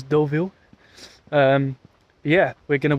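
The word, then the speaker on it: Deauville: we are here in what I would call DeVille but I think it's probably pronounced doville at least that's what the Google Maps lady says doville um yeah we're going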